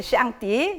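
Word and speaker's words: 上帝: 이게 샹띠, 예, 중국어로 샹띠로 발음을 하는데 그것이 지금 우리가 말하는 하나님이에요.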